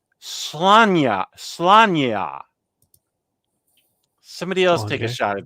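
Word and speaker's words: Sláine: Am I pronouncing Bisley right? Slanya.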